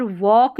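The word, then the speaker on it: walk: अब यहाँ पर वॉक में भी ऐसा है, जब एल और के साथ में रहते हैं ना तो एल साइलेंट होता है लास्ट में, तो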